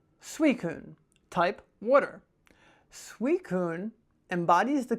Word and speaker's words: Suicune: How do you pronounce it? Suicune. Suicune.